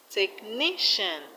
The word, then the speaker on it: technician: And in technician, the stress is on ni. Technician.